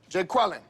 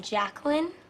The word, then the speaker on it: Jacqueline: Jay Quellen. Where's Jay Quellen at? No Jay Quellen here? Yeah. Do you mean Jacqueline?